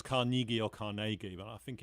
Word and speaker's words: Carnegie: no it's carna it's carnegie apparently it's scottish in a re he like it's it's carnegie i did not know